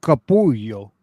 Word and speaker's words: Capullo: That's Capullo's signature, right? Yes, it looks like yes. Yeah, I forget the title of this book. But it's pronounced Capullo.